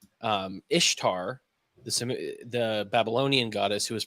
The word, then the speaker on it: Ishtar: from the name Ishtar which would technically be pronounced like correctly Ishtar but um they say oh you say it exactly the same way her name is Easter that's how you say i s h t